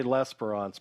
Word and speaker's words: L'Esperance: If you haven't met Michael, I'm going to say L'Esperance, but that's probably my naive way of just saying what I think I see. I don't think it's the right pronunciation, Mike. So That's correct. exactly how you say it.